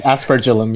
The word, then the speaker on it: aspergillum: So I have to pronounce it as it's written, which is asperagillum, asperagillum, something like that. There is It's aspergillum, yeah.